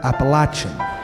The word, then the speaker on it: Appalachian: range in the eastern United States which is pronounced up here Appalachian and the Piedmont Region High and flat like